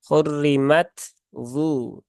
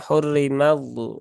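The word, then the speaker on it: حُرِّمَتْ: harus dibaca dengan izhar maka huruf tnya tidak boleh diidgamkan ke huruf d ya hurrimat du hurrimat du ya bukan hurrimu ya jadi tnya harus disempurnakan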